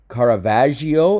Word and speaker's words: Caravaggio: want to specific artist Caravaggio it's a soft G for example okay good